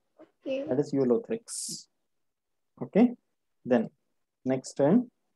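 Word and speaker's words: Ulothrix: Next pronounce कर. यूलोथ्रिक्स. Very good, it इज यूलोथ्रिक्स.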